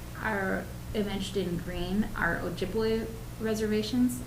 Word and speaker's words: Ojibwe: But and the green, the reservations that are imaged in green are Ojibwe reservations. Ojibwe. Some people say, or some historians say, that Chippewa is really just a mispronunciation of the word Ojibwe.